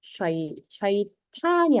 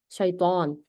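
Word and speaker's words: شيطان: 네, 샤이탄이 아니라 사실은 샤이طan이 되는 거죠. 네. 그래서 샤이탄 하면 틀려요. 샤이طan. 이 나쁜 샤이طan. 네, 최대한 강하게 발음해 주세요. 그래서 샤이طan입니다. 떠, 떠하고요. 무거운 발음이에요.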